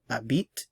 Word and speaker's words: habite: that in the singular for the singular forms the to even though they might be spelled differently are all pronounced the same so we have Abit Abit Abit Abit Abit toit and of course VAB